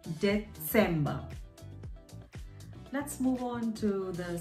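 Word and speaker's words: Dezember: December, so instead of C, D-E-C-E-M-B-E-R, we replace the C with a Z. Set, again, remember the Z pronunciation, Vatsala, Utsa. So December becomes December. December.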